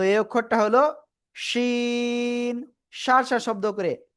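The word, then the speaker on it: شين: তো এই অক্ষরটা হলো শিন। সার সার শব্দ করে 3 আলিফটা নিয়ে এই অক্ষরটা উচ্চারণ করতে হবে।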